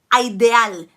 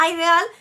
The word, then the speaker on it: ideal: En un día ideal, be careful with this word because I've heard so many students pronouncing it as ideal. It's not ideal, it's ideal, okay? Like idea is idea in Spanish.